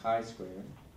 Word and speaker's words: chi-square: to, it's called the chi-square distribution. And this is how we spell it, C-H-I, but it's pronounced chi-square. And the symbol for it looks like this, chi-square.